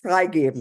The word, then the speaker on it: Freigeben: I stop the Freigeben, do I? Yes, stop the Freigehen. I don't know how to pronounce it in German. Yes, You know better. Correct, Freigeben.